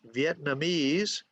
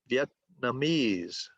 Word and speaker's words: Vietnamese: Okay, notice that this dictionary shows that Vietnamese has stress on 2 syllables, okay? Because it's really 2 words put together. So it's really an interesting word because it has stress on 2 different syllables. Vietnamese, okay? Viet, stress, Namese, stress.